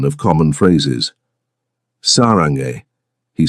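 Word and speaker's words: 사랑해: He reciprocated with Korean lessons, teaching her proper pronunciation of common phrases. "Sarange," he said one evening, demonstrating.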